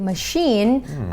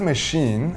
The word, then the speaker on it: machine: Well-oiled machine in Thai would be เครื่องจักรที่มีน้ำมันหล่อลื่นเป็นอย่างดี First off, the word machine, although it's spelled M-A-C-H-I-N-E, it's actually pronounced with the S-H sound, machine.